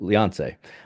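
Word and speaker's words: Léonce: I think it's crazy that in French it's Leonce. It's like Beyonce, but Leonce.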